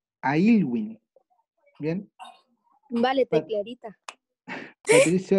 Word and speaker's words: Aylwin: Ya, ¿Cómo se escribe Elwin? anoten. EDW. Y, L, W, I, N. Es Ailwin. ¿Bien? Vale, Pa- clarita. Patricio Elwin.